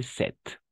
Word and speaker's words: cette: féminin singulier n'est-ce pas 7 double T e à la fin on va prononcer 7 j'achète cette robe pour